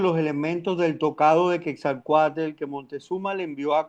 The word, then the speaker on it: Quetzalcóatl: hermosos trajes de cuat- eh, eh, ¿cómo se pronuncia? Eh, Cuatelcuot, ay, se me enredó. Quetzalcóatl.